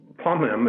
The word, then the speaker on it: Pomham: I would have to go with what I'm saying, Pomham, because Pomham, it sounds like there's two M's in the word, and actually there's only one M.